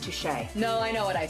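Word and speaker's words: touché: Touchy. I think it's pronounced touche.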